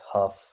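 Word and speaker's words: Hough: the hu space or the however Aron pronounces it Hugh you got it right yeah the Hugh space yeah the guy pronounces it like Huff yeah the Huff for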